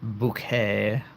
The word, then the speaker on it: Bucket: It's bouquet. B U C K E T, but it's spelled bucket. It's bouquet.